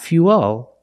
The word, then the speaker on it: fuel: Not fuel. Remember, when you link the uh plus the dark L, the mouth opens a little bit, but it's not a real syllable. It's like this fuel.